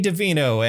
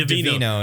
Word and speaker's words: DeVito: this movie where Danny DeVito and Arnold Schwarzenegger are twins. I accidentally said DeVino. Yeah, you did. DeVito. I put a soft T in. It was the T is silent.